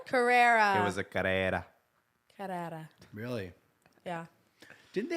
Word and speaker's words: Carrera: camman Porsche camman that's what it was there's c a r r e r a Carrera Carrera Carrera it was a Carrera Carrera really yeah didn't they have a like